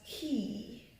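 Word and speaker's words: quay: Yeah, so it is pronounced key, key, e. Just like what we use for opening doors, the same sound, key, the long sound of I, and of course an initial k sound, key.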